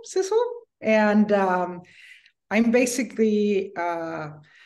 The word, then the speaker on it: Sidsel: you do please yes my name is Cecil harder it rhymes with whistle Sizzle and um I'm basically